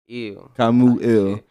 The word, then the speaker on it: KhamouEl: KhamouEl, man.